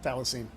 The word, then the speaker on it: thylacine: That's how you say it thylacine.